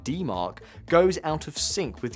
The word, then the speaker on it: DMARC: It’s what happens when your email authentication: SPF, DKIM, or DMARC <Pronounced as D Mark>, goes out of sync with your sending practices, often due to unnoticed DNS changes or new streams.